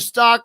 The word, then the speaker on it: Stauch: They literally wrote me a message and said, hey, when you're doing your lives, the name is Stauch. Like cow, Stauch, like cow.